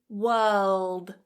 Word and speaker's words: world: Hold your tongue up as you're doing that L and then release it as a D, so we're not going